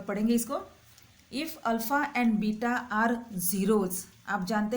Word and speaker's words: beta: इसको बेटा मत कहना, बीटा कहते हैं इसको।